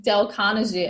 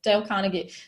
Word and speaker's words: Dale Carnegie: name wrong del conte I used to say his name Dale Carnegie and everyone's like no it's Dale Carnegie so one of my